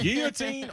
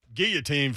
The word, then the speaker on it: guillotine: Is it guillotine or guillotine? Guillotine from the French perspective, but a lot of people say guillotine.